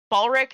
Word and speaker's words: Balric: No, at this point, I'm directing my attention to Balric. Is that how you pronounce it? Yes. Okay, so I direct my attention to Balric, and I just kind